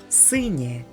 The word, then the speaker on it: синє: yenot, which means raccoon, or a in the word синє, which means blue.